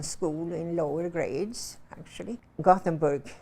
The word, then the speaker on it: Göteborg: Gothenburg, you would pronounce it Göteborg.